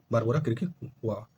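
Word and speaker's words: Barbora Krejčíková: ये बारमोजा क्रिकोवा। Okay, this is the pronunciation, बारबोरा क्रिकोवा, ठीक है।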